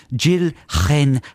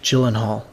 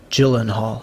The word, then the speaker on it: Gyllenhaal: l e n h a a l so jill hen this is how i pronounce it because the j i think is